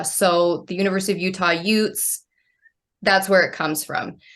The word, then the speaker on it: Ute: pronounce it correctly because some people don't know how to say Ute how do they say it what do they say um do you get what's in what's an Udi okay that's our Oregon